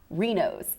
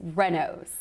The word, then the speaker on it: Reynolds: It's not Reno's, it's Reynolds. Sure, it's Reynolds. Reynolds. Correct pronunciation is Reynolds with 2 N's.